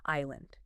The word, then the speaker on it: island: That S is silent, right? Makes no sense. So, invent a better spelling. What looks more logical? Island. Aland.